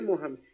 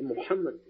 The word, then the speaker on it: Muhammad: Não é Mohamed, é Muhammad. Muhammad, essa é a pronúncia.